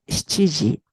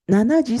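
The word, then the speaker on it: 七時: Alors, le chiffre 7, il y a la prononciation shichi et nana. Alors, on utilise normalement shichiji, mais nanaji, ce n'est pas interdit, mais normalement, on n'utilise pas parce que c'est shichiji.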